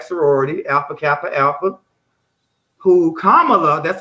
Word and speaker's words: Kamala: alpha kappa alpha who kamala that's how you say her name kamala it's like pamela but palm but with the k kamala harris was a member